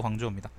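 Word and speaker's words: 广州: 발음은 광주가 광저우입니다.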